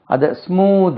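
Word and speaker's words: smooth: எம் o ditch இதுக்கு இதுக்கு உச்சரிப்பை கவனிங்க அதை ஸ்மூத் அது நம்ம ஸ்மூத் தா என்று உச்சரிப்போம் தா இல்ல அது த வித் த தேர் தென் குள்ள த ஸ்மூத் நம்ம ஸ்மூத் ஸ்மூத்னாலே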